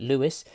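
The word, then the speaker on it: Lewes: I now know what how to say it Louis and it's arguably the hub of the East Coast way it arranged in a v-shape and made up of five platforms and large central forecourt Louis's where a large portion of the action happens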